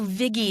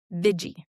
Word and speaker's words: Vigie: Or the Vigi is the other one. The I didn't realize there would be so many alternative pronunciations to your name because to me it seems pretty self-evident.